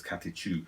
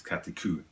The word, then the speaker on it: Catechu: and four videos that said it was kate cou i've got a feeling in america's katichu and in british is kataku i'm going with kataku that's